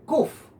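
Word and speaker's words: קוף: letra qf de hecho la palabra para mono o chango Sí en el hebreo es precisamente kuff Sí con una con una pequeña variante entre o y entre Uf no escupe es interesante que mono se dice Exactamente igual como se dice la letra q entonces es un mono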